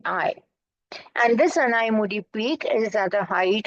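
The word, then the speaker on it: Anaimudi: the highest peak of the western C is anai murri a n a i m u d i anai mudi a n a i m u d i and this anai moodi peak is at the height of 2695 M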